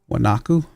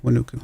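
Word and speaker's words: Huánuco: Wanaku. There's Wanuku. That would be a decent one, I guess. Did I just mispronounce it? I did. Wanuku.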